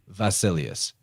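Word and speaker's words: βασιλεύς: Latin ancient Greek word basilius which is a word for King now in the modern Greek they would actually pronounce that beta like a V so it' be vasilius then in Latin of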